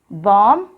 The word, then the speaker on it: bomb: Here also, letter B is silent. So we'll read all these words once again. Bomb, climb, calm, limb, dumb, thumb, numb, Tom.